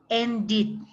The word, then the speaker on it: ended: Aquí a este ed, usted en cambio lo va a pronunciar como id, que sería ¿qué? Started, started, ended, ended, con id al final, ¿ya?